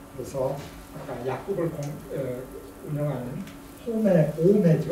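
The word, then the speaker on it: Homais: 아까 약국을 운영하는 홈의 오메죠 오메 H가 들어있으면 발음하지 않거든요.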